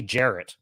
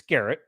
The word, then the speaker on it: Garrett: name all the time people call me Jared Jared I'm like it's Garrett do I think that